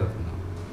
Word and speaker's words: Retno: Nama ibunya Kalau ejaan Jawa Ratna Mundri. Retna Mundri. Cuma dipanggilnya Retno. Ejaan Jawa kan dibaca O.